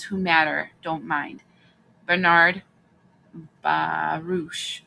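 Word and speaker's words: Baruch: Bernard Barouch, I think it's pronounced Baroo.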